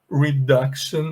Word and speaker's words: reduction: Nesse grupo aqui, eu queria só mostrar para vocês que o padrão é que esse C, ele é pronunciado com som de K, e eu vejo muitos alunos com dificuldade de produzir esse som, tá bom?